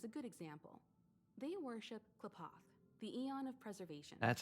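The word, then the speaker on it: Qlipoth: They worship Klapoth, the Eon of Preservation. That's how you pronounce it.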